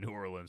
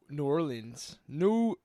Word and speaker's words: New Orleans: So New Orleans, how do you say it as a local? New Orleans. New Orleans. Is that okay? New Orleans. New Orleans. Move your tongue less.